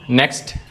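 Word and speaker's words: knock: नॉक यहां पे के साइलेंट है।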